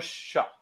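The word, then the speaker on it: Shough: Slo uh, they how do I pronounce that? Uh, Bill Tyler Shock.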